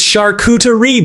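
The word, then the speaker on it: charcuterie: At one point during dinner, I mispronounced Shakuterie and Tinsley corrected me in front of everyone. It's shakuterie, babe.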